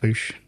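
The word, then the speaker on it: Boush: common yeah um and apparently in that it's pronounced Boosh there you go God so what pronounced in a comic no the audio the audio books but there's also there's also you can like look at like Star Wars Wikipedia with a dictionary definition breakdowns of it and it'll be b-o-u-s-h and then it'll say pronounced b double o b o o s h he's thinking he's thinking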